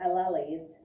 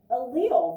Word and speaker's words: allele: pronounce it not allies they're not elies allele very good allele not the way it looks i get that